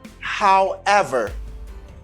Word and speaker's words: however: Mais là, ça, on dit however. However. The stress is in ever. Accent tonique là, c'est sous ever.